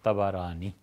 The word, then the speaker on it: طبرانی: آئی ہے طبرانی میں۔ طبرانی کا اصل تلفظ یہی ہے، طا پر بھی زبر ہے، با پر بھی زبر ہے، طبرانی۔ طبرانی رحمۃ اللہ علیہ